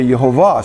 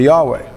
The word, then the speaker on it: Yehovah: And on the divine side, his name is Yud-Heh-Vav-Heh, or I say Yehovah, some say Yahweh, some say other things.